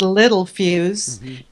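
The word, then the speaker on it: Littelfuse: people that recognized and they tell me it's pronounced little fuse and that they recognize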